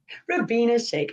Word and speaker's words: Rubyna Sheikh: your last name wrong so i'll let you pronounce it correctly for me it's for being a shake ravina shake i know sorry i call it we'll go